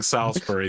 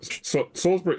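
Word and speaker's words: Salisbury: the worse glou okay I'm pretty sure I've been mispronouncing Salsbury the entire episode including right now but soulsbury Salsbury got right soulsbury that's where I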